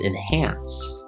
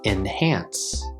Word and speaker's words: enhance: this word is pronounced enhance enhance we have two syllables and hands the stress is on the second syllable so it sounds like enhance enhance enhance now the